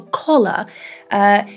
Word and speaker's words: collar: the color of a collar. So yeah, we do need to make a distinction between these two sounds, a and o.